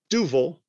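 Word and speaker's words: Duvel: is a belgian beer it is pronounced duval i was told when i worked with a belgian bartender say it like devil but what do you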